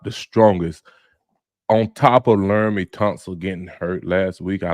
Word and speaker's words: Laramie Tunsil: And like you say, Larry how you pronounce his name again? Laramie Tunsil, Lake City, Florida.